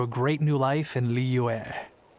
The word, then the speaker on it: Liyue: But I know it's like there's the li, right? The li is the easy part, and then there's like a yue kind of part, so it's like Liyue, which is kind of how he said it, but of course it's like you blend into those two syllables, so like Liyue would be blended to like Liyue.